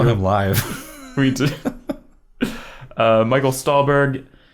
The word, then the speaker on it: Stuhlbarg: Michael Stuhlbarg. Stuhlbarg. For the first time like this year, I realized that's how it's pronounced.